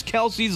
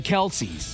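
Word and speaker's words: Kelce: saying Jason and Travis Kelsey's last name wrong this whole time so when Taylor marries Travis it will no longer be the Kelsey now it's the Kels so it's not pronounced Kelsey it's just k e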